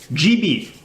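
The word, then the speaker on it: Gee Bee: And once it will load, this is GB. That is spelled Geebee.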